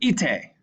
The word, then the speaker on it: ite: So this word here, ite, means go. Notice how that I, it's not ite or ite. You'll notice that both syllables are pronounced.